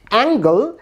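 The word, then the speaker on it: angle: এখানে প্রথম শব্দে অ্যাঙ্গেল, এই শব্দে জি লেটারটির উচ্চারণ হচ্ছে গ।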